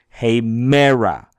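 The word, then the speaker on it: ἡμέρα: It means put a little more bam on it. Say, hey mera. Hey mera. We say it a little bit louder, a little bit longer.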